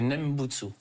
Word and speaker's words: Nembutsu: Voilà, donc la pratique, pour faire simple, c'est dans la prononciation japonaise, je l'utilise parce que c'est la plus facile, c'est Nembutsu.